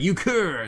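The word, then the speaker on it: Euchre: Uh, Yukur. Ukur. That's how you uh That's how you pronounce it, huh?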